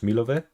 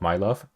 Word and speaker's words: Milove: area, and 2,000 towards Milove, which according to the comment is how you pronounce the city village of what I earlier called My Love, which I prefer as a name, My Love.